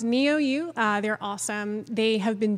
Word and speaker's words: NeoU: I mispronounced it several times. I felt so bad. Okay. So it's NeoU.